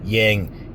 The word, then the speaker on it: yang: Um, and by the way, it's a little bit crude, but I always say like, yeah, like yang, yang, yang rhymes with with wang.